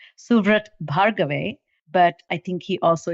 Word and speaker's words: Suvrat Bhargave: very dear friend and his name is officially pronounced suvret bhargave but i think he also is fondly known